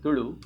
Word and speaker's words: Tulu: And yes, I told you also pronounce it Tulu, so the la is how it's written in the Kannada script.